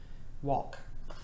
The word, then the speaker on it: walk: blend but in this case it is a silent letter combination and it says walk but that's not on the card this is